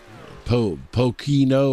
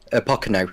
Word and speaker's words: Pocono: It cracked me up, and so I think you said Pochino, or how'd you say it? Pocono. I think it's meant to say.